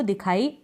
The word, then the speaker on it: though: OUGH एंड में आपको दिखाई दे रहा है, ठीक है।